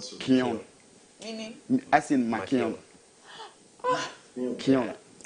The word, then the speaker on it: Keown: But what actually amazed me was that the name of the town was called Kion.